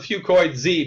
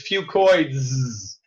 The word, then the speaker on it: Fucoidz: say that 10 times fast I call a few coins II because that's easier to pronounce but really the correct way to say it is few coins okay few coins is an encapsulated few COI